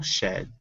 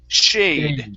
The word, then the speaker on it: shade: overhead there was no shed okay now that last word has a long a in it so instead of shed this is shay shade try that shade okay very good